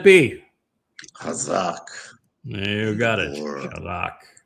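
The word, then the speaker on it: Chazak: Hazak. I think you have to be Jewish to actually pronounce that CH correctly.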